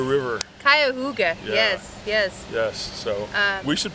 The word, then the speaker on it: Cuyahoga: We are just off the Cayuga, and I'm conquering the name. You're not conquering. I'm massacring the name a la John Smith. Spell it. IT. Nope. Cuyahoga River. Cuyahoga.